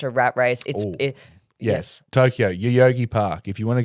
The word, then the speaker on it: Yoyogi: And so, yeah, Yoyogi, so it's spelled Yoyogi.